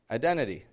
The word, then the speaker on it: identity: Identity. You don't have to pronounce those T's. Nobody's making you do it. You're choosing to.